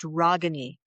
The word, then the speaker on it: Ragini: It's Ragini, and it's pronounced Ragini. Kind of sounds like mahogany.